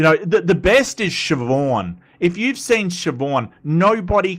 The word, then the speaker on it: Siobhan: And people say Sibohan and it's like, no, it's Siobhan. It's Siobhan.